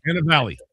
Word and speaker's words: Cannavale: Cannavale.